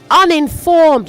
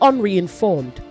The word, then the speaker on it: uninformed: Democratic and then say uninformed not unreinformed.